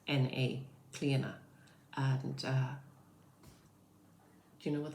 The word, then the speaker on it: Clíodhna: father like Niclef, O-D-H, the D-H is silent, N-A, Clíodhna.